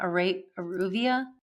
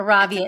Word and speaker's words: Aravia: Because the first one you started, and I'm going to say it wrong, Aruvia. Arabia. Oh, darn it. I say it wrong every time. That's Aravia.